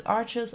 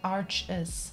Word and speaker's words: Arches: I'll probably keep saying arches me too to see you Anna thanks for coming I refuse to say it like that arsh means Ash means but in German so it sounds weird for me same same so for